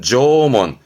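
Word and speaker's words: 縄文: 발음은 조몬, 조몬이니까 뜻은 줄문양, 줄문입니다.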